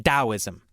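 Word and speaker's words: Taoism: Why didn't we just spell it with a D?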